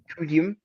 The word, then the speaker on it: Kyuhyun: yeah, you said it right, Guyum, mm-hmm, Kyuhyun.